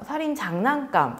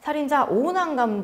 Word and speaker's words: 살인자ㅇ난감: 이 작품은 살인자 이응난감, 살인장난감, 살인자 오난감 등 아주 다양하게 불리고 있습니다. 이 원작 작가가 여러 가지 중의적 의미를 담았기 때문입니다.